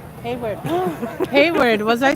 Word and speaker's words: Hayward: Hayward. Hayward. Was I saying that wrong? Haywood. Oh my god. Sorry. Hayward.